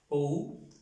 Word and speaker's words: ou: La U con este acento, y entonces ya va a ser acompañada así, OU, y se va a pronunciar igual que aquí.